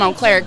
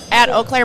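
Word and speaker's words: Eau Claire: Yeah, we're posting that we're here from And so everyone from Oaklair can see that we're at Quad Cities.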